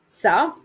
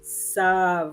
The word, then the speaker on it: ça: So that little accent under the C tells us that this word is going to be pronounced more like an S, okay, than a C, which tends to be like a K, more hard, right? So it's telling us soften it up a little bit, right?